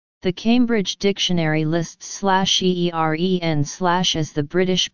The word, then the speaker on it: Iran: According to this study, the pronunciations slash Eeren slash and slash Eeran slash were almost equally acceptable, while slash Eeren slash was preferred by most panelists participating in the ballot. With regard to the slash Aeeran slash pronunciation, however, more than 70% of the panelists deemed it unacceptable.